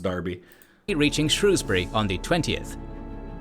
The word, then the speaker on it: Derby: that was talking but that's Darby I think it's pronounced Darby reaching Shrewsbury on the